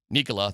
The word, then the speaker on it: Nicola: Josh Kroni less than an hour ago talking about the changes they made the role of Nicola.